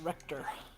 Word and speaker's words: Richter: So is Richter one of the Belmonts, I take it? It's pronounced Richter.